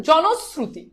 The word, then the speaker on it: জনশ্রুতি: আবার বলছি এটার উচ্চারণ জনস, জনস, তারপর কি শ্রু, তারপর হচ্ছে তি, জনশ্রুতি, জনশ্রুতি।